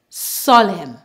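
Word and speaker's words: solemn: have a silent n whenever we have a combination of M and N together in a word normally at the N we remove the n and pronounce the m the m sound for example Autumn colum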